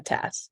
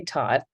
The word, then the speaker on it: Tat: I'm a Tat. Tat? Is that what you go by, Tat? Yeah, Americans say Tot, which is strange to me, but I'll take it. But that's T-O-T. You're T-A-T. That's a Tat.